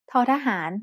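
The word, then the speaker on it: ท: When it's the final consonant in a syllable, tho thahan makes a T stop just like do dik.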